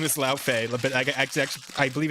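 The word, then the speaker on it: Laufey: just say, you know, La Feay or or Yeah, it's her because her actual name is La Feay, but I I believe it's actually pronounced like that. It's not Le, it's actually La.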